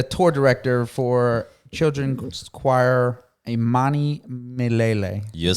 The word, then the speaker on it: Imanimilele: He's the tour director for children's choir Imanimilele.